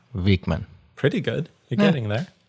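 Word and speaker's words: Wikman: in the future L vikman it's not a nice name to throw at Americans because it's l vikman pretty good you're getting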